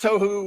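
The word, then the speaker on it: tohu: that right there but he says that it's pronounced toou right is chaos Wilderness waste confusion a place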